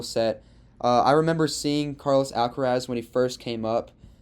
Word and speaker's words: Alcaraz: Alcaraz?